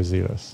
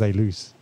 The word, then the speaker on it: Zēlus: that that's dealer so i know zealous yeah or or zealous well some people are pronounced as a loose um was there ever